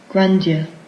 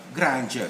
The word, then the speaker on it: grandeur: hear about oxford okay now get this one from oxford grandia grandeur and then there is also granger so it's both actually okay fine you see